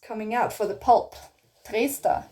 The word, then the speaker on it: Trester: Trester. In German you say Trester oder Trester, depending on, you know, the dialect. How do I say Trester?